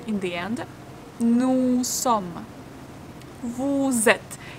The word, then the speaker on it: vous êtes: Vous êtes. Here we will read s in vous, like z. Vous êtes. Vous êtes. And we don't read the last two letters.